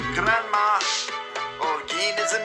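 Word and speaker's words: Granma: just as you saw if you pronounce it correctly it sounds like grandma oh geen is the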